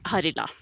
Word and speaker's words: Harila: Harila.